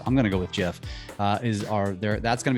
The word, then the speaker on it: GIF: out and said no it's gif it should be a hard g not a soft g anyway totally off the basis bear but um tick tock gifs i'm going to go with jeff is are there that's